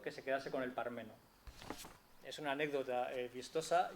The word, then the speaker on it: Parmeno: Mire usted, don José, Pármeno suena muy prosopopéyico y nobiliario, y ello no le va bien a su estampa ni a su prosa, mientras que Parmeno, sin acento en la A, resulta más campechano y